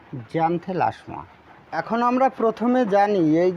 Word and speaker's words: Xanthelasma: আচ্ছা এটা কিন্তু এক্স অক্ষর। এটার বাংলার উচ্চারণও লিখে দিতে হলে আপনাদের সুবিধা হবে। জানে লাশমা। ঠিক আছে? তাহলে উচ্চারণটি হবে জ্যান্থেলাসমা।